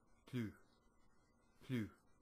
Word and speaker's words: plus: Plus. Plus. Right? That's how it's spelled, but it's pronounced plus.